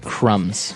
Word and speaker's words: crumb: Those are called crumbs. That's right. And a very This is a very And I want to remind everyone that the word crumb has a B on the end.